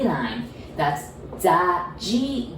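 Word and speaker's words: ぢ: because the second one, I know you might want to pronounce it like D-I, like D, but we pronounce it like J-I, G.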